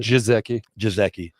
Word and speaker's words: Gesicki: How do we pronounce it? Jizeki.